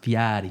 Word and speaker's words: Fieri: It's pronounced Fieri.